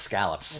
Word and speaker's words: scallops: Oh, it's scallops. It's not scallops. It's like ball, call.